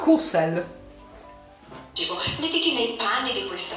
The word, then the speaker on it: Hussel: Comunque il mio cognome si pronuncia Hussel perché è un cognome di origine tedesca, austriaca, ma quindi la lingua è il tedesco, e si pronuncia Hussel con la H e la S sorda. Hussel.